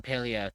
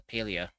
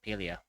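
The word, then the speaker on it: Palia: Yeah, I'm going to be playing Paleo tomorrow. So, I love how I still love how we have two different ways of pronouncing that. Well, technically it's actually it's actually pronounced as Pelia.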